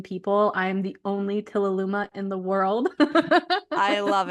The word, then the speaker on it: Tilaluimah: of seven billion people I am the only Tila Luma in the world I love it can you spell that can you spell that for our listeners